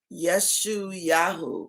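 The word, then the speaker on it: ישעיהו: And how you pronounce his name is Yeshu-Yahu. How you get Isaiah from that?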